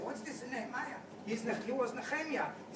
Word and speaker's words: Nehemia: But the way we used to call him, and I refer to it in the Hebrew way of pronouncing the name, is Nehemia.